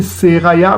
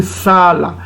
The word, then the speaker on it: Sala: Son père c'était Seraya, mais on ne va pas prononcer Seraya, mais on va prononcer Sala.